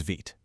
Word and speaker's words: Vite: And that tool, as you probably guessed, is called Vite. So, what exactly is VIT? First off, it's pronounced VIT. It's actually the French word for quick, which is perfect.